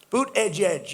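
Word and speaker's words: Buttigieg: Boot, edge, edge. You say boot, and then you go edge, edge.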